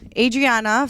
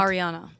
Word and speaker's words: Ariana: Mora so love Island Adriana from what's the show called Ariana ariiana yeah I said it wrong Vander pump rule